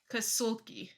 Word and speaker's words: Kasulke: Kasulke, I believe. Kasulke. Okay. Kasulke, not Suki, not your dog.